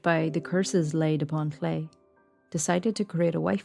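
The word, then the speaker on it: Llew: He tricks her into naming the child, who she names Llay, which is spelled L-L-E-W.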